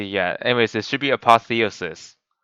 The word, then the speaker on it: apotheosis: a positive because I I did not say the word Theo on that second uh second part of the word see yeah anyways this should be apotheosis like I don't know